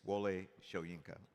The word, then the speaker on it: Wole Soyinka: It's Wole Soyinka, by the way.